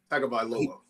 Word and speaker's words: Tagovailoa: I forget how to pronounce his last name. You remember? Tagovailoa.